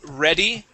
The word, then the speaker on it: ready: Let's go to ready. Okay, give me a good short E there.